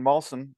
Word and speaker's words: Malson: and this week we have on Mr Brandon mson did I pronounce that right it is that was good